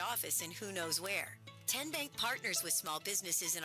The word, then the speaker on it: TN Bank: How do you say the name TN Bank? Nope. Kin Bank. Uh-uh. So, what is it? Tenbank. 10 as in Tennessee.